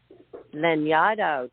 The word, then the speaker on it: Lanyadoo: Go and check out Jessica Lanyadoo. Did I pronounce it correctly?